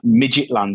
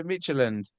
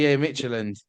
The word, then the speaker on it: Midtjylland: I don't know how to pronounce the name. It's like Midgetland or something like that. Oh, right, yeah, Midtjylland. Yeah, Midtjylland.